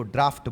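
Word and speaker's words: draught: यह हवा का जो झोंका है, इसको ड्राफ्ट बोला जाता है।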